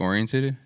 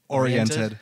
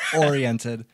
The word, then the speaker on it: oriented: is your family like music orientated oriented oriented wow are you feeling like music oriented not really i keep saying it wrong oriented yeah not really like